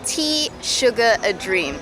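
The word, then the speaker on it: Teşekkür ederim: She says you remember it by saying tea, sugar, a dream.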